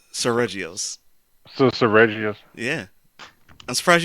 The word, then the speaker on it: Seregios: Sir Serpacious? Did I pronounce the name? Seregios.